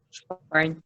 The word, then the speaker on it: supine: Posisi pasien kan Bu, posisi supin Bu. Supin? Supine. Supine ya, supine bacanya Iya bukan Bu.